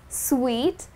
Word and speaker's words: suite: And then the last one that we have is a suite. Well, that's how you're supposed to pronounce this word. Many people do make a mistake while pronouncing this. The correct pronunciation is suite.